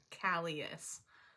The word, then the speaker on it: Calyis: yes and i know some people don't know how to pronounce it but it is calius all right so now